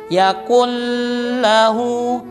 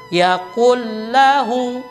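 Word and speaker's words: يَقُولُ: Ini namanya dalam ilmu tajwid adalah idgham bila gunnah. Dimasukkan atau dileburkan tanpa dengung. maka tidak boleh dibaca yaqullahu, itu salah. Tetapi dia melebur saja tanpa dengung.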